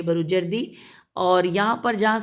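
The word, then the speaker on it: بروجردی: कि सरकार आका ए बरु जर्दी बेरे वाव जीम रे दे दाल छोटी है बरु जर्दी और यहां पर जहां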